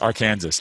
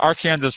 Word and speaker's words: Arkansas: to say the name of this river it's pronounced arkansas i don't know why i don't know why